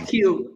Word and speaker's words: Keiu: manager, and from Keiu from St. Louis Game Time, or Blues Game Time, right? St. Louis Game Time, and my last name is pronounced Keiu, like the letter Q.